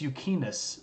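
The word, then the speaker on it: Euxinus: it for the Romans was um the pontis yukus they they called it a lake um they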